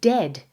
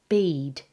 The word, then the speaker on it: dead: And dead, it's said like bed, not bead. For goodness sakes, don't call it deed.